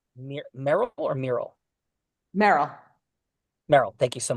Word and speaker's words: Meryl: It's pronounced Meryl or Meryl?